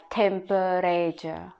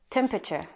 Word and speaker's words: temperature: if you read it if you read it you're gonna read it like temperature but when you pronounce it only three syllable temperature picture yeah when comes